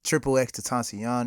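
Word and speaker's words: XXXTentacion: case Tupac is there triple X to tashion is there so that's how you pronounce it okay I've I've always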